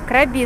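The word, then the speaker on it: Krabi: Правильное название провинции на самом деле звучит как КрабИ с ударением на последний слог и переводится как меч и вопреки всеобщему заблуждению, совершенно никакого отношения к крабам, не имеет.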